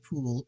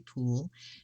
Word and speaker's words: Puhle: the card geek and her name i'm assuming it's pronounced pool p-u-h-l-e tony poole and steven bright and